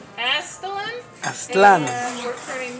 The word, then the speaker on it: Aztlan: AZTLAN.